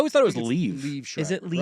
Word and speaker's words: Liev: Some people are putting a little emphasis like L-E-E and then E-V. Eve. But it's Leave. Leave Schreiber. But it's spelled L-I-E-V. Yes. And other people are saying just like Kiev, but with an L instead of the K. Leave.